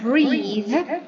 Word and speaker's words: breathe: So breath is a noun and we pronounce breathe as a verb.